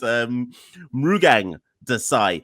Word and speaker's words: Mrugang Desai: Monty by his actual government name, which is Mrugang Desai, which I possibly pronounced wrong anyway.